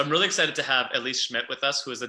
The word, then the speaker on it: Elise Schmitt: conversation here today um elise schmidt thank you so much for and i pronounced your name correctly right you did yeah perfect awesome so elise schmidt